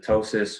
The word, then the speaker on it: ptosis: He had the ptosis, which is spelled Ptosis, where his eyelids started to droop.